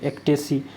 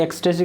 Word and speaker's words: ecstasy: गलती होता है कि बच्चे इस एस को छोड़ देते हैं, एक्टेसी। देखो इसको बोला जाता है, एक्सटेसी कभी नहीं बोलते, इसको बोला जाता है एक्टेसी, ECS।